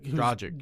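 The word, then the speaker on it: Dragić: Goran Dragic. Dragic, yeah.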